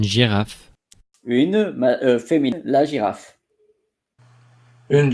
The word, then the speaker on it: girafe: So the same in English, but not the same pronunciation, because in French, you pronounce it Une girafe.